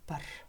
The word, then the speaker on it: бар: Үйдің ар жағында бақ бар. В слове «бар» буква «б» произносится как «п».